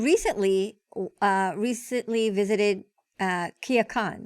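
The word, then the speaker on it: Culiacán: right and you recently uh recently visited uh kia khan right if am i saying it right yeah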